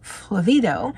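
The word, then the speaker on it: flavedo: and I had to write it phonetically as well as how it is enunciated and when you're looking at anything phonetically anything in caps is where you emphasize so flavido and that is the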